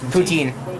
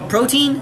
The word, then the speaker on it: poutine: Poutine. Protein?